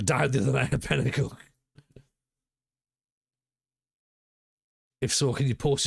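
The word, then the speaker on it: Penicuik: I heard Pennychuck pronounced wrong a couple of pods back. At least you were referring to Pennychuck. Or Pennycook.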